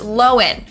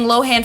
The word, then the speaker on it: Lohan: last name is pronounced lowen okay everyone's been saying lohan for years but it was recently revealed that we're wrong it's lowen not lohan anyways the downfall of